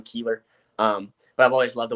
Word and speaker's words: Kuehler: Funny because his is spelled the same as mine with a B, but it's said completely different. He's Buehler, I'm Keeler.